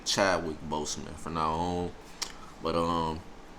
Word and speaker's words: Boseman: his last name because i look at it being said like bossman but some people say boseman so i think the correct way is boseman so i'm gonna say chadwick boseman for now on but